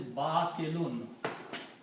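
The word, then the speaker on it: بَاطِل: And the noun from this is batilun. Batilun means unjust. Batilun. Batil, when we stop, we say batil.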